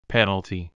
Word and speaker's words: penalty: Let's pronounce. Foul. Foul.Foul play, foul play. Foul language, foul language. Foul smell, foul smell. Penalty, penalty.